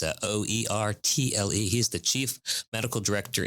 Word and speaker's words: Oertle: Oertle, which is spelled nothing like what it sounds like, at least not for my little pea brain. It's Oertle.